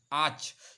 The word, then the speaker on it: arch: देखिए जहां पे ARCH आर्च, इसकी जो प्रोनाउंसिएशन है वो आर्च है, आर नहीं बोला जाता.